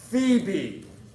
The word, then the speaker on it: Phoebe: Okay, and then to finish Series 1, the first of your 30 birdie, this is the Eastern Phoebe. Now, Phoebe, make sure I spell it correctly for you.